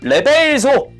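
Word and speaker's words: reverso: 그리고 레벨소, 정확한 발음이 레벨소 막 이랬던 것 같은데 요게 이제 뒷면이란 뜻이랍니다.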